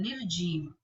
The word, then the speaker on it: निर्जीव: से लग जाता है, निर्जीव, निर्जीव। तो उच्चारण नी के बाद आ रहा है, ध्यान देंगे, उच्चारण नी के बाद आ रहा है निर, तो ये हमेशा आगे